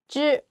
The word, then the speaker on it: 知: I know the hard part is 知 You just imagine the word manage. Ch didn't vibration. You just add vibration. 知 is okay.